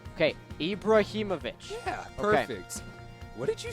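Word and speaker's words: Ibrahimović: on purpose no I'm not say the name ibraimovic okay ibraimovic yeah perfect what did you say sloten Ibrahimovic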